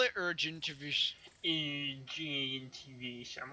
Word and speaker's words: Ergentiviss: Call it urgent if you Urgentivish. I'm like, well, how would you spell that?